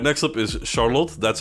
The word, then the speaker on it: Charlotte: right next up is Charlotte that's how I pronounce it it's that's that's just the way we say it in Dutch Charlotte and we have a